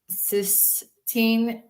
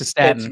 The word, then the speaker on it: cystatin: Bob, can you please discuss the difference between EGFR and cysteine? Am I saying it right? Yeah, It's cystatin.